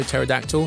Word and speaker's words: pterodactyl: Also, pterodactyl, spelled with a silent P at the beginning.